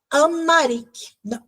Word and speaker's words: Amharic: Na Etiópia, se falava o idioma descendente do antigo aramaico, o idioma Amharic. Esse R aqui é mais pronunciado.